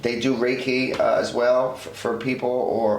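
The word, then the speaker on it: Reiki: Um and they do um events as well as they do how do you pronounce that with the R? Raiki. They do reike as well for people or or they will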